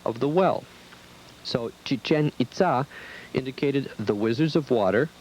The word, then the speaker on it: Itzá: Most of us were pronouncing the site as Chichen Itza. Our guide corrected us. He was fluent in Spanish, English, and the most common language of the area, Mayan. Chichén Itzá was correct.